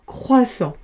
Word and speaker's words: croissant: Deux s entre deux voyelles, ça fait s, s plus le en sans croissant. J'ai oublié de mettre le t en gris puisqu'il s'écrit et ne se prononce pas.